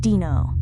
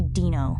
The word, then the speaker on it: Dino: He pronounced it Dino. It's actually Dino, I told him, like dinosaur.